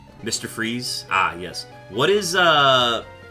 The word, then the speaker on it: Fries: Victor fries or uh pronounced freeze.